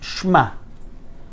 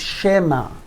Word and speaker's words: shema: So, if it would be shva nah, I would have to say shma, but the word is shema.